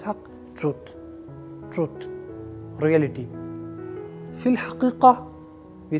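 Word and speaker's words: حقيقة: It has two very important Arabic letters which are important from the point of view of pronunciation. So it has ha and qaf, ha, qaf, haqiqa, haqiqa, not haqiqa, ha, haqiqa, haqiqa.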